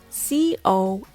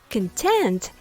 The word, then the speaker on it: content: say con con content content has the stress on the second syllable so the first syllable is reduced it becomes smaller and weaker like can can content other words like computer